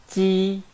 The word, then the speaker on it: ji: When we read Ji, please raise the front part of the tongue to touch the hard palate.